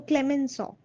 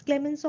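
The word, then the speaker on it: Clemenceau: So Britain and France is another French is also a very difficult language. So, Clemensaw, it's Clemensaw also. It doesn't match the spelling.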